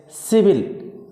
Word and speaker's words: civil: If C is followed by E or I or Y, the pronunciation of C will be S. Cell, like civil, C-I-V-I-L, C-I. Here is C is followed by I. The pronunciation of C will be S. Civil.